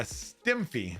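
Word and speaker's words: STEMFIE: So on to the next one, a STEMFI. I had to look that up just to make sure I pronounced it right. It's like a selfie, but it's a STEMFI.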